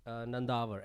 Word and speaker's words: Nandavar: Nandavar, I Nandavar.